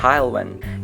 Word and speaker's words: Haulwen: My model isn’t based on any particular real-life example, although I did take inspiration for the livery from number 5272 “Haulwen” (pronounced Hile-wen).